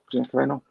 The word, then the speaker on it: Gina Carano: And I remember Gina Carano, how do you pronounce her name? Gina Carano?